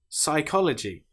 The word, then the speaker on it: psychology: Psychology psalm. Here we don't pronounce the P at all.